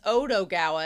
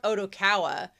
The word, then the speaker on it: Odokawa: the one guy says, "Oh, your name's Odogawa." And he's like, "Odo." And he's like, "It doesn't matter. You're the only one who cares about that detail." That part was weird. Why did he say his name differently? Because he wrote Odokawa.